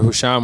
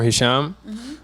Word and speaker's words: Hisham: for my full name which is pronounced either husham or Hisham um which is an